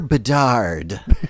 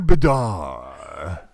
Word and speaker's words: Bedard: It's almost like the D should be silent at the end. Connor Bedar.